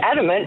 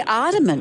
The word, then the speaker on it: adamant: And I'm aramant that you say it adamant because adamant is correct. Yeah. They say aramant.